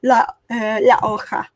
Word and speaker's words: La Jolla: Pronounce the Spanish way, La Hoja.